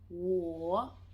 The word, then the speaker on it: 我: I'm just going to try and give you the best pronunciation as possible. All right? So the first one, I or me, is 我.